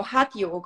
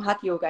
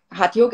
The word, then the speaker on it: hatha: as well it's discipline um so you know hot yog or hatha yoga as it's pronounced in the uk and maybe in some